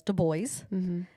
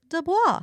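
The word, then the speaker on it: Du Bois: which by the way I have always pronounced his name dwois because it's French and it's spelled dwois and the audio book says do boys and so like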